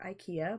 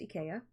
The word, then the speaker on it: IKEA: from eaya and or Ikea but you know that's that's pronounced Ika um if you didn't